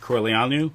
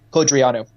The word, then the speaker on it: Codreanu: I want to address something about the Iron Guard leader, Corleanu, right? Pronounce that right? Codreanu.